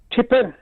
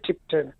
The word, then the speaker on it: Tipton: And the other thing, you're pronouncing Tipton is just a couple of miles away from where I am. It's Tippen. You don't say Tipton. Tippen. Tippen, that's how they say.